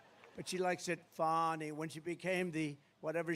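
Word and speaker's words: Fani: about fonnie Willis right has anybody fonny it's pronounced fonnie F A ni I that's Fanny but she likes it fonnie when she became the whatever she became da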